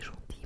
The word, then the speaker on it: gentil: bored et c'était très gentil. Merci beaucoup pour ça. Et plusieurs personnes m'ont aussi dit que je dois pas prononcer le L à la fin de Gentil.